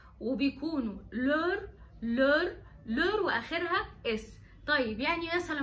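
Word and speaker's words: leurs: خدتوا بالكم ان هي ما بتفرقش في النطق لور من غير اس، من لور افيك اس، لان كده الاس الاخرانيه هي اخر حرف. ف وفقا للقاعده بتاعتنا في اللغه الفرنسيه ان احنا ما بننطقش اخر حرف، فهتبقى لور، مفيش اي فرق، وده بيعمل سهوله جدا في التعبير.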